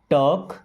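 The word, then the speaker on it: talk: टॉक properly टॉक। देखिए एल यहां पे साइलेंट। साइलेंट लेटर का मतलब उनको पढ़ा नहीं जाता है। लिखा जाता है।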